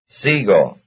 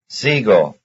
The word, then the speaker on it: sigo: Sigo, luna. Number 31. Though X and Y are very different, their stress is the same. That is, both are stressed on the first syllable.